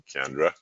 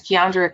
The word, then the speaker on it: Kiandra: for joining us today kendra thank you for having me and just quickly i wanted to clarify how my my name is pronounced it's kiandra but i'm so